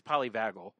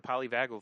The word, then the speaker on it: polyvagal: I believe it's polyvagal theory of the ANS.